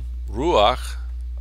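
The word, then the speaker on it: רוח: Elohim espíritu de dios Este sin la pat que se puede ver aquí sería o la pronunciación sería ru y es Aparentemente difícil nosotros no estamos muy puntillos con la pronunciación de hebreo pero para los hebreos parece difícil entonces los hebreos usan una patac secundaria se llama otra vez patac furtiva aquí aquí y nota que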